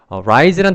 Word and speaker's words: rise: 첫 번째, 이 rise란 단어는요, 발음기호상 이 모음이 I 발음이 납니다. 그 다음에 raise란 단어는 발음기호상 모음이 A 발음이 나는. 그래서 rise 이렇게 읽고요. 그 다음에 이 단어는 raise 이렇게 읽는 것이 가장 큰 첫 번째 차이점입니다.